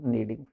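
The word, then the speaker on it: kneading: Sita singular Sita is नीडिंग के silent रहेगा ठीक के साइलेंट रहेगा इसको नीडिंग बोलेंगे नीडिंग नहीं के साइलेंट सीता ि नहीं आ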